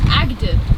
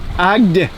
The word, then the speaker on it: Agde: Wait, apparently it's Agde. Agde.